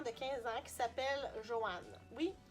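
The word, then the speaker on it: Johan: Dans ce roman-là, on va suivre un jeune adolescent de 15 ans qui s'appelle Joanne. Oui, Joanne. J-O-H-A-N. Ça se prononce comme le nom féminin, là, Joanne, mais bon, c'est un garçon, hein?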